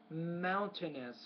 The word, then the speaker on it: mountainous: a monane land I would say there stress mountainous land mountainous where the water will have a